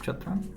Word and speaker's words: chatrang: chaturanga in Persian was called chatrang or how it's pronounced chatrang and uh and under Arabic influence became chatran I guess that was just